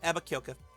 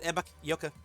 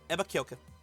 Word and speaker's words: Ebakyoka: It's Ebakyoka. I said Ebaky Yoka, but it's Ebakyoka.